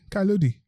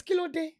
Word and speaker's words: Kilode: But Kailodi. No, it's too low. It's Kilo Day. Guys. See a full-blown Nigerian, Kalode. Kalode. Kalode. You're not even saying it right yourself. It's Kilode.